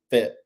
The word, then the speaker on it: Fayette: Around here, it's Fayette, but we got our own shirts say FET. So not like Lafayette, but Fayette. One syllable.